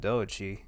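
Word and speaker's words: Doechii: yeah okay DOI yeah like do and then Chi okay okay I don't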